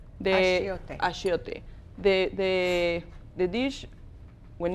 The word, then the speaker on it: achiote: This paste is called achiote. Achiote.